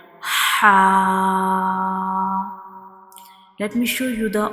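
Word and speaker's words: ح: view of mouth, and ha is pronounced from the throat and from the middle portion of the throat, like ha.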